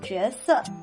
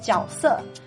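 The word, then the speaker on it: 角色: makes JUE as in JUESE, which means a character. Like a fictional character, a character that an actor takes on, etc. Actually, this word is also pronounced JIAOSE, and the difference is pretty murky.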